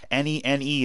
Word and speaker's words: Nene: Nene is Nene. There's a pro basketball player named Nene, and his shit is spelled Nene.